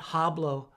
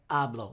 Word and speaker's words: hablo: aamos a and ablan the H in Spanish is silent so it's not hablo but ablo like in the word honest in English the H